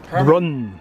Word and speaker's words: Brunn: Brunn. Herman Brunn, coach builder in Buffalo, New York. It's the only one. It's the only one ever made. It was ordered by Edsel Ford from Mr. Brunn as an experiment into doing a smaller town